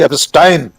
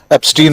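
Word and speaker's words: Epstein: जिसे वे कह रहे हैं इन फेमस मिस्टर जेफरी एस्टाइन। आपने ठीक कहा उच्चारण। राहुल गांधी ने भी एस्टाइन ही कहा था। हम लोग भारतीय लोग उसको एस्टीन ही कह रहे हैं।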